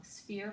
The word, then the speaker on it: sphere: last syllable we have sphere we have the pH so we want to underline that first that's making that F sound we have this silent final e is making the e say its name so this is a